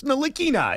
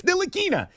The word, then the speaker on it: Ntilikina: Like, instead of just correcting people and saying, it's Ntilikina, it's Ntilikina, he just said, screw it, call me whatever you want.